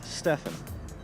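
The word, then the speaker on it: Stephen: and blogs my name my name is Stefan spelled like Steven with a pH I'm 27 years old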